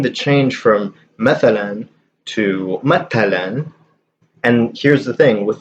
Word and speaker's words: مثلا: Like I've seen the change from مثلا to matalan, and here's the thing with this example, you can also pronounce this masalan, so as an S, but I don't think I've ever seen it written with an S.